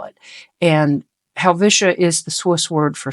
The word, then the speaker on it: Helvetia: I've heard it pronounced Helvetica, which there's no C in the name, but I've seen and heard people call it that, but we call it Helvetia.